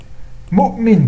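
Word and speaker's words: مؤمن: Donc le hamza, on va l'écrire sur un waou, qui ne se prononce pas. On ne dit pas mu'minu, on dit mu'min.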